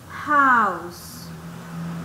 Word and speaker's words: house: pronunciación de esta palabra house se escucha como una j house por eso utiliza